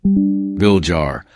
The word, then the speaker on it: Villar: Cynthia Aguilar Viller Tagalo pronunciation. Vil Jar born on July 29th 1950 is a Filipino